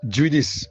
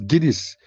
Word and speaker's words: Guinness: The word is not jinis. It's Guinness. You pronounce it as G I N R S.